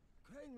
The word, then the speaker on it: Crane: name is crane crane crane rhymes with train and brain and shine and grain